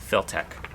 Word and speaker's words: Filtec: And if you want to look up any information on Filtech bobbins, it's spelled FIL-TEC, Filtech.